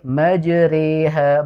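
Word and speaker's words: مجراها: Adapun ketika kita membaca huruf ro di situ imalah re, maka dibacanya dengan ro tipis ya atau tarqiqo. Sehingga dibacanya Bismillahi majreha, bukan majre. Jangan terlalu tebal, ya tipis saja.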